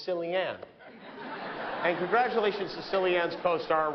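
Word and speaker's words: Cillian: It's pronounced Killian when he does drama. When he does comedy, it's Sillianne.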